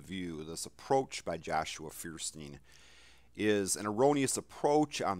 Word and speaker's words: Feuerstein: I'm pronouncing that correctly, Joshua Feuerstein.